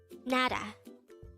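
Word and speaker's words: 나라: word number 235 foreign this is pronounced as a two-syllable word the first syllable is na the second syllable is pronounce it with me NADA nada the Korean term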